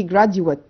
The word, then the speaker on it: graduate: انا متعودين ان انا بنطق جيت دي لونج فاول، لا دي جراديويت.